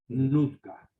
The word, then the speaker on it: Nootka: Pero los ingleses después lo bautizaron o lo rebautizaron como escrito Nootka, con su doble O que se pronuncia U, Nutka.